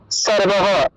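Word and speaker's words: সর্বঃ: ঠিক আছে, মনে করেন যে কোন একটা লাইনের একদম শেষে সর্ব লেখা আছে আর বিসর্গ আছে, উচ্চারণটা হবে সর্বহ। সর্বহ উচ্চারণ হবে।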